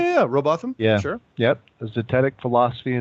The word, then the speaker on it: Robotham: Am I pronouncing that right? Yeah, Robotham.